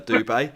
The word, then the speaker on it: Dube: that his name isn't the doob it's uh dube we know that but there's an english